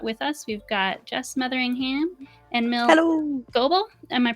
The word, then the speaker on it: Metheringham: We've got Jess Metheringham and Mil Goble. Am I pronouncing that right?